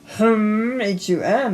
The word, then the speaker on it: hum: H u m is also our one syllable Sanskrit chakra.